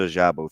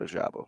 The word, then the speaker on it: Ojabo: into the murky waters of the how to pronounce a last name. No, but you're also just an abbreviation guy. David Ajabo, thank you. Whoever texted me that. Oh, Oh, my man, Degenerate Aaron. David Ojabo.